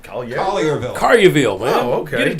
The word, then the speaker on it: Collierville: How do I pronounce this? Collierville? Collierville, man.